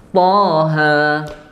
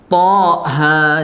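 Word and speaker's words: طه: adalah Mad thaobii biasa Thaha Thaha tinggal mengalirnya m-nya mungkin yang perlu diingat jangan sampai kepeleset thha Jangan gitu hamzahnya sudah enggak ada thha Oke lanjut ini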